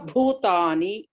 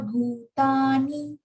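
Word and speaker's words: भूतानि: Bha is Mahapran there. So you have to stress and pronounce. Sarva Bhutani. Sarva Bhutani Kaunteya.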